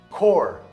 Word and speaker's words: Corps: Mas existem outras palavras, como Corps, a corporação, the Army Corps of Engineers, ou coup, né? Eles fizeram um coup d'état. Então, vem de um outro idioma e a gente não pronuncia o P.